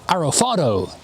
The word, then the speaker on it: Alphard: Hello and welcome to Furious Driving and this is a MK2 Toyota Alard or as it's pronounced in Japanese, a Toyota Arafado.